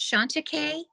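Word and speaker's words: Chantecaille: do you say it Shanta k I don't even know that one yeah it ends with e-l-l-e it might be a French word that's how I've pronounced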